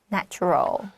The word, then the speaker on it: natural: Natural, 这个 T-U-R 很麻烦的发音，这个 T-U 对 that's right. You need to pay attention to this. Natural, right? C-H. Natural.